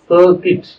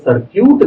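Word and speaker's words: circuit: சர்க்கிட்டா, சர்க்கியூட்னு தானே சொல்லுவாங்க, சர்க்கியூட் கிடையாது. அத ஆங்கிலத்துல சர்க்கிட் அப்படின்னு தான் உச்சரிக்கணும். ஆங்கிலத்துல இருக்கக்கூடிய எழுத்துக்களை வைத்து அப்படியே உச்சரிக்க கூடாது. English is அன் அன்பனட்டிக் language. அது சர்க்கிட் என்று தான் உச்சரிக்கணும். தமிழ்ல மிக அழகாக மின் சுற்றுன்னு சொல்றாங்க.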